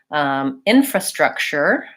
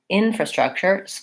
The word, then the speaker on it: infrastructure: So for infrastructure, there's our y sound again. Infrastructure, first syllable stress, shorter on these other ones. And you may just have to go slowly enough, one syllable at a time. Infrastructure. So this, it makes a ch sound, and then there's our y sound, infrastructure.